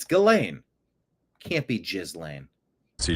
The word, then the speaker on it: Ghislaine: It can't be Jizz Lane. It can't be pronounced Jizz Lane. That is the simulation winking at us. If the lane to Jizz goes through her, that cannot. It's Ghislaine.